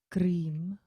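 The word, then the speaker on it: क्रीं: by the darkness so the mantra is om cream so it's in the chat box um and maybe chandra will share it again so it's right at the bottom om is the first word cream sometimes it's also recited as hreem but in this case we're going to use cream and it's a long eye so cream is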